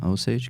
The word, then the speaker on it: Osage: That might be, yeah, Osage County. There you go. The film was Is that how you pronounce That's it, yeah.